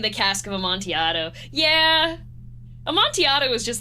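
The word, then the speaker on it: Amontillado: You don't know what the cask of a montiato is? What the? I had a substitute teacher pronounce it Aman Till Leato and it made me so mad.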